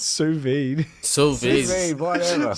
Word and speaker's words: sous vide: All right, we'll do sous vide day. So videos. What the heck is this? Yeah, or whatever. How's it pronounced? Sous vide.